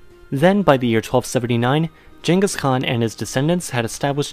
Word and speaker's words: Genghis Khan: You all know the Khan I'm talking about though, Genghis Khan, and yes, I'm pronouncing it the Mongolian way.